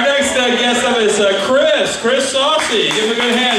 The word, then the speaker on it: Soucy: My name is actually Chris Soucy. However, I've never minded being called Soucy because that's kind of awesome.